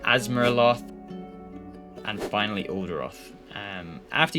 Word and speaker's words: Azeroth: as grth the warlands Azeroth pronounce that asaroth and finally oldo um